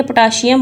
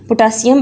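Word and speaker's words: potassium: Google भी आपको इसकी प्रोनाउंसिएशन पोटासियम बताएगा, ना कि पोटाशियम। ठीक है, कैल्शियम, पोटाशियम, मैग्नीशियम। ठीक है, ये शियम नहीं है, सीएम है।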